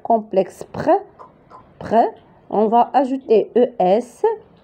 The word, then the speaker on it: près: Près. La syllabe complexe près. On va ajouter ES. S. S. Il a S. Donc, ici, on ne va pas prononcer S, mais on va prononcer seulement E accent.